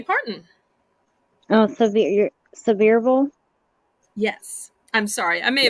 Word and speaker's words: Sevierville: Tennessee good one and I'm gonna go with searville Tennessee which is the home of Dolly Parton oh so the your Sevierville yes I'm sorry I may have mispronounced it